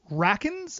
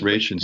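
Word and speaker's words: Rachins: We had Alan, is it Rackens as Clock King? I think it's pronounced Rations. Rations?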